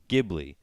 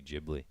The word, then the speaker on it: Ghibli: would be jibley but it's actually in American pronounced Ghibli so when everyone says Studio Ghibli which is how it's pronounced it's actually not how it should be pronounced because it should be Ghibli lovely Ghibli yeah so yeah I yeah yeah